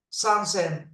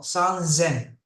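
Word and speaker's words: 三千: San sen. No, san zen.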